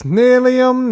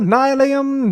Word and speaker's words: Nylium: I know it's Nilium, Nilium, don't be so sillium. Nilium, Nilium, not the big dealium, it's Nilium. Ba-dum, bum, ba-do. Short and sweet. The block's called Nylium, Nylium, pronounce it rightlyum.